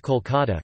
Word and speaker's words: Kolkata: Kolikata, although the city's name has always been pronounced Kolkata Kolkat, Bengali, Kolikata or Kolikata Klikat, Bengali, Kolikata in Bengali.